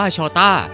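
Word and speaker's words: Jota: เป็น คำ ว่า โจเซ ใน ภาษา โปรตุเกส ตัว เจ ออก เสียง ว่า โชต้า และ นั่น คือ จุด เริ่ม ต้น ของ ชื่อ ที่ โลก เรียก เขา ว่า diโก โชต้า แม้ ว่า มัน จะ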